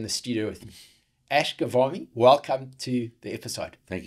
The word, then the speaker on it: Ghavami: the best way to pronounce your surname, you said it should be like Salami. Eh? Yes. Well, because people say Ghavani, Ghavani. So it's Ghavami and it sounds like Salami as far as the syllables.